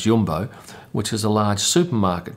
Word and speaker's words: Jumbo: Now, these capes are provided by what looks like Jumbo, but I'm told it's pronounced Jumbo, which is a large supermarket chain that sponsors Max, and you would have seen their logo on his helmet.